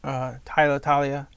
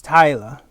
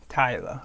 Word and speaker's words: Taila: Tyla, I'm sorry if I'm saying it wrong. Everybody says it fucking different. Talia. Oh, it's Tyla. Tyla. Okay. Just gotta read the letters, guys. It's not that hard.